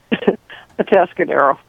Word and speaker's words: Atascadero: Atascadero.